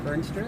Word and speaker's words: Ernster: just uh for sound check here Sergeant fernster that's spelled e-r-m-s-t-e-r and the public information officer for